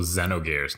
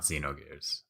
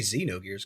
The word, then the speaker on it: Xenogears: square Enix conference speaking of which it's also Xenogears not Xenogears I know it's throwing that out there yeah I'm sure I mispronounced all of these let's and just blame